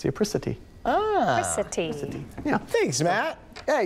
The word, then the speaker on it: apricity: It's pronounced apricity.